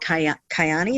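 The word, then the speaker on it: Kyäni: So you're about holistic, but now you're with a company that is called Kyani. Is that how you pronounce it?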